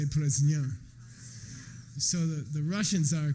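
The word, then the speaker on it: प्रज्ञा: Prajna, say Prajna. So the Russians are correct pronunciation, Okay, я знаю, да?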